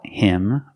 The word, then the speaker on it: him: They caught him red-handed. But him is not a stressed word, so the H is silent.